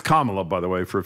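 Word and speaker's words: Kamala: It's Kamla, by the way, for a future reference.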